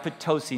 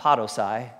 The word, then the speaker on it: Potosi: working in a small little country church in potosi Missouri you've never heard of it before it's pronounced potosi not Pato sigh all right potosi Missouri Erica and I we